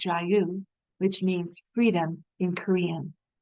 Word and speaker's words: JAYU: Stemming from their roots in North Korean human rights awareness, the organization was named JAYU (pronounced jah-you) which means freedom in Korean (자유).